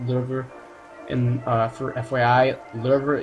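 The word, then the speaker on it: Löwe: it looks like low a lot of people say low just because it's easier but it's pronounced lver and uh for FYI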